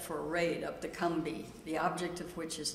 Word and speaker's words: Combahee: The river is called, it's spelled like Combahee, but they, in South Carolina they call it the Scumbee, so I'm going to call it the Combee.